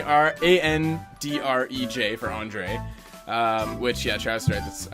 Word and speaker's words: Andrej: Andre Meszaros.